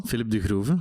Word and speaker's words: Filip De Groeve: Is it Filip De Groeve? Yeah, quite well. Yeah, well done. Come on, give it to me. Well done, Filip De Groeve, indeed.